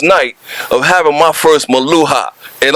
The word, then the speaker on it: Meluha: of having my first maluha and I'm gonna tell you I'm saying it right right yes you are let's make sure I'm